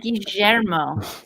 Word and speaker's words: Guillermo: It's pronounced Guillermo. We were going to name Milo that. Guillermo. Trust me, that was a long fight. Hey guys, you're all saying it wrong. It's Guillermo. I said Guillermo.